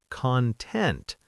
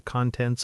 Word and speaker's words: content: as an adjective, content, but as a noun, like YouTube content or the contents of a bag. Content. Completely different stress.